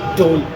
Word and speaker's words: dhol: So when it came into Punjab, our language is such that DH turns into a D. So if you find a Punjabi pronouncing it, they would say dhol or something of the sort.